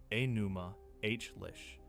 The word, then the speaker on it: Enuma Elish: Open the composition the Babylonians called, by its first 2 words, Enuma Elish, which you may hear pronounced Enuma H-lish, and which is only